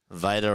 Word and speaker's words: Vita: Vita rhymes with Ida.